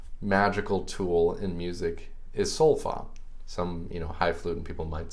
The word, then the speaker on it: Solfa: So that magical tool in music is Solfa. Some, highfalutin people might say Solfege, but Solfa. And these are the 7 syllables we use.